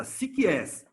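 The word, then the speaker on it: ψυχάς: Essa palavra que vocês estão vendo em vermelho aí, complexa para mim também, é pronunciada psikies.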